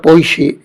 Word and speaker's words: Poitiers: El segundo doctor de la Iglesia es San Hilario de Poissy, que se escribe Poitiers, pero se pronuncia Poissy porque es francés.